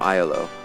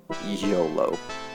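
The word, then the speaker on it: Iolo: when I was younger I originally pronounced his name IO I pronounced it dpri shamino and IO but it's dpre shamino and YOLO long before the acronym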